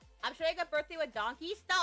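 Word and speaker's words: Donki: I'm showing a birthday with donkeys. No, it's not pronounced donkeys. It's It's pronounced donkey, but it's actually d o n k i. Yeah. D O N K I. It's not pronounced donkey like the animal donkey.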